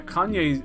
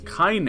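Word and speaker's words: Kainé: uh kanye's i'm not i've said kanye i used to always call her that like an idiot her name is kaine it's spelled k i n e so i used to call it kanye kanye west is in the game but it's not now it's kaine kaine's team it's probably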